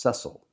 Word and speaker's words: Cecil: It should be pronounced Cecil Cecil Sharp.